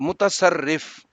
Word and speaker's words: متصرف: لفظ ہے بیٹا متصرف، تو میم پہ پیش، تے پہ زبر اور سواد پہ بھی زبر اور رے پہ یہ شد اور اس کے نیچے زیر اور اس کے اوپر پھر جزم، تو متصرف۔ یہ بیٹا لفظ ہے